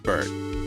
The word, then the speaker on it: Byrde: around tonight yeah or is it just bird maggie birdy you know what yeah it's just bert not birdie not for day maggie